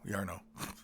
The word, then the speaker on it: Jarno: The banners bear name Jarno. Yarno or Jarno? We'll say Jarno. It's pronounced, Yarno.